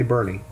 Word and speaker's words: Boerne: down there in Texas looks like born to me but they say Bernie in this case of